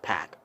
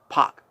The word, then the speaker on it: PAC: called Park anymore because it's been confirmed by pack that is pronounced pack for because for a while people who has been callin pack puck like oh I was